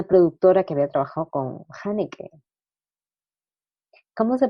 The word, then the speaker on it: Haneke: Ay, bueno, y también que había una productora que había trabajado con Haneke. ¿Cómo se pronuncia?